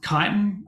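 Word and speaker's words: chitin: we'll go through um kiten um which is spelled cheating which I always mistake that um but this is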